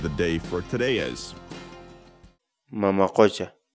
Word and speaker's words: mama qucha: series videos where we teach you how to pronounce certain words in Quechua so our word of the day for today is mama question mama question mama question in English the Quechua word militia means see